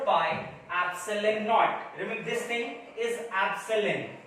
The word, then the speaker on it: epsilon naught: This K is also right to be 1 upon 4 pi epsilon naught. Remember, this thing is epsilon, and along with 0 it pronounced as epsilon naught.